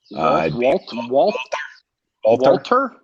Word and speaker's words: Walther: up a Walther pistol how do you say it with a German accent Walter Walter yeah Walter something you know